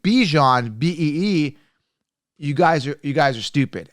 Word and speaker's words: Bijan: And everybody that's saying Bijan, B-E-E, you guys are stupid. Anyone who thinks that it's Bijan, it's not. It's Bijan. So get that right.